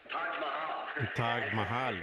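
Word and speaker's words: Taj Mahal: Billy Paul, ¿cómo se pronuncia eso? Hotel Tag Mayal. Tag Mahal, sí, en todo caso.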